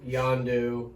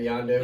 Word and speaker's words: Yondu: He is a very cool character because like he's got that close relationship with Yondu. That's how you say it, right? Yondu.